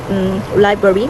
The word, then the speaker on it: library: down um that is when the word library which is li the first syllable is stressed and it goes up